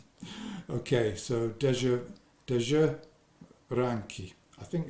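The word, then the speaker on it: Dezső Ránki: okay so that's uh Deo ranki I think that's probably how you pronounce it uh Zs in Hungarian is J SZ is s okay so de de ranki I think it's the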